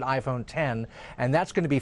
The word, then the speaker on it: iPhone X: They may pronounce it iPhone 10, and that's going to